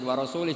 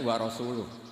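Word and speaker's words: ورسوله: Allah itu terbebas, gak urusan dengan orang musyrik, wa rasulih juga gak ngurus Rasulnya. Kalau sama Rasul saja tidak ngurus, apalagi sama kita. Bersama Sayyidina Ali dibenarkan yang benar bacanya itu wa rasuluh.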